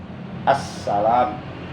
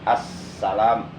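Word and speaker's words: السلام: Jadi huruf sinnya bertasdid, kudu di taskil membacanya, jadi ditekan assalam, dan sinnya pun sin kecil, assalam. Nah, itu tasdidnya yang berada di atas huruf sin jangan sampai hilang.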